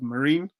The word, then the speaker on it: Marin: this is raul and your last name is pronounced marin is that correct or there's there's there's so many variations uh i i usually like to go with the route of marine marine like a marine marine yeah okay got